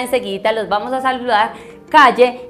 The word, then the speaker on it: Klle: Se escribe K-L-L-E. K-L-L-E. Calle.